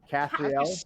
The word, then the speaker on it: Caprielle: It's Capriella. Caprielle. Caprielle. How do you spell that? Like Cap Attack. CAP.